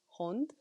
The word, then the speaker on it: hond: Dog is hond. Like hound. Can you spell it? Hond. Oh. Hond. H-O-N-T. Hond. And D. But you pronounce Hond. it as kind of like T.